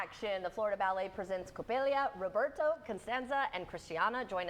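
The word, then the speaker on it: Coppélia: Coppelia.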